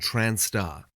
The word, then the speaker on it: trans*: having surgery trans and transar used as an abbreviation of transgender or transsexual or as an umbrella similar to transgender some people use trans with the Asis pronounced transar this is to indicate